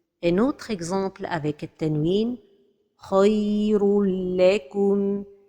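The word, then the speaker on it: خير لكم: Khayrul lakum. L'erreur est de prononcer cet idgham avec ghunna. Khayrul lakum. Or que cet idgham se fait sans ghunna. Khayrul lakum.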